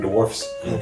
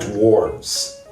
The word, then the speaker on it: dwarfs: I'm going to give it up to Snow White and Dem Seven Dwarfs. Seven Dwarfs, by the way. It's not dwarves. They have to say dwarfs. Dwarfs? Yeah, it's spelled with an F.